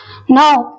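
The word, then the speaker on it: know: breakfast I have breakfast ನೌ ಕೆಎನ್ O double ಈ ನೌ ನಲ್ಲಿ K silent ಆಗುತ್ತೆ ಇದನ್ನು ನೋ ಎಂದು ಉಚ್ಚಾರಣೆ ಮಾಡಬೇಕು ನೌ ಎಂದರೆ ತಿಳಿದುಕೊಳ್ಳುವುದು ಎಂಬ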